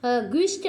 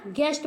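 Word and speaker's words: guest: built और यहां पे गेस्ट ग्विस्ट नहीं पढ़ते हैं क्या गेस्ट पढ़ते हैं यू साइलेंट है ई जी ई डबल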